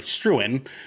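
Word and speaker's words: Struan: a company called STS or sorry struin is how it's apparently pronounced uh founded in Hong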